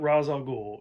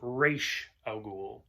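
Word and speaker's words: Ra's al Ghul: his name is not razor ghoul it's pronounced reish al ghul it's r a apostrophe s so that's why they say raz it's not raz it's raish it's racial it's um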